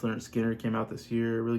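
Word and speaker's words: Lynyrd Skynyrd: Their pronounced Leonard Skinner came out this year.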